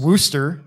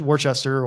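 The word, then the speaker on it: Worcester: while now um the she does mispronounce um wooster in the video um that is my fault uh because i wrote the script for that and did not give her a pronunciation for that um and so if you read it it seems like it should be work out worchester or morecaster or something like that but it is rooster like rooster with a w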